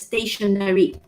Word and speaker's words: stationary: All right, in English, both are pronounced the same way.